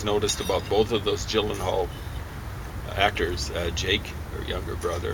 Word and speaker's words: Gyllenhaal: And Maggie Gyllenhaal is actually how you say it.